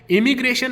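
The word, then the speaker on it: immigration: Pronunciation याद रखो, इमिग्रेशन एंड एमिग्रेशन।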